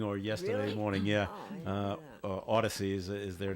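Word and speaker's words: Audacy: I think that's how they spell it it's kind of like audacious but wow but they pronounce it Odyssey so so um they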